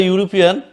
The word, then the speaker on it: European: Similarly, in the word European, and if you pronounce the European, automatically it's come to you U.